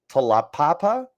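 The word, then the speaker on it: Taulapapa: Huskies leading rusher Wayne talapapa tala Papa I believe is how you say that is a senior for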